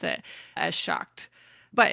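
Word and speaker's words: seacht: apparently pronounced closer to shocked, or they said depending on where you're at in Ireland. In some places in Ireland, it's pronounced closer to shocked, but if you are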